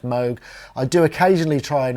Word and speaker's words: Moog: moo a lot okay and we say it Moog and it's just a force of habit I know it should be pronounced MOG I do occasionally try and remember but just